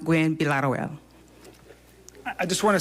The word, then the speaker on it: Gwinn-Villaroel: But it is pronounced Gwen Bilaterwell. So it's actually pronounced Gwen Bilaterwell.